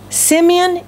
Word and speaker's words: Simeon: does James say Simeon Simeon is the Hebrew pronunciation of the Hebrew name Simon Peter is the Greek Roman name but he's speaking to